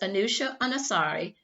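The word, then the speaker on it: Anousheh Ansari: to go back to another space tourist was anusha anasari an iranian-born woman from the united states who went to the space station in mid-september 2006.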